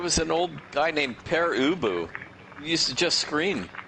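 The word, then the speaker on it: Pere Ubu: don't know the name it's pronounced per ubu and you know so find it if you can but it was it's probably it sounds german yes me a rock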